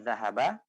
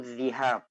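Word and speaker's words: ذهاب: sebenarnya masdar dari kata zahaba yazhabu. Nah, banyak mereka yang membacanya uridu zihab dan ini salah ya. Jadi yang benar memang zahab, bukan zahab.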